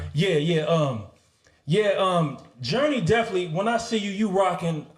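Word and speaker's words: Jurnee: to ask you journey I thought your name was Journey like spelled like Journey take a journey across the street across the world but your name is spell is it spelled the same with the Facebook type it is not it's spelled j u r NE e e yeah J that's what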